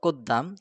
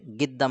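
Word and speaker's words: قدام: তো মূল সঠিক উচ্চারণ কুদ্দাম, কিন্তু আরবরা কুদ্দাম রে গিদ্দাম বলে।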